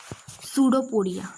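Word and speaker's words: pseudopodia: है कि they have सूडोपोडिया। दे क्या होता है, सूडोपोडिया। आपको इसका प्रोनाउंसिएशन करना है सूडो, इसका प्रोनाउंसिएशन क्या करना है, सूडो। ए पी साइलेंट होता है गाइज, ए पी क्या होता है, साइलेंट होता है।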